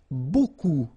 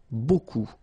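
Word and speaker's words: beaucoup: lot of it look it looks a bit strange B like that remember you don't pronounce the final P okay and then you get this combination of vowels a u and you get the sound o so technically it's B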